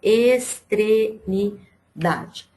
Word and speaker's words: extremidade: A sílaba que a gente pronuncia com mais força é o da.